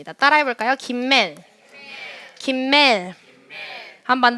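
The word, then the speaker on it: גימל: 따라해 볼까요 김맨 김멜 한번 더 김맨 김멜 뭐 김엘이라고도 발음을 하기도 합니다네 김멜의 발음은 첫 번째가 기억이니까 그 베이트 아니고요 그라고 발음을 합니다 그 이미지는 뭐 같으세요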